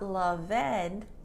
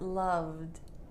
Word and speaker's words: loved: D sound for example love is not loveed but loved loved amaz is not amazed